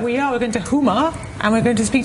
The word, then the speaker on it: Houma: In, is it Houma? Houma. Houma. Actually how it's pronounced.